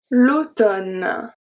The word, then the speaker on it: automne: We've seen this one as well when mn is going to be pronounced n. Let's see too. L'automne. L'automne. L'automne. Condamné. Condamné. So I don't say condamné and I don't say l'automne. I say condamné, l'automne.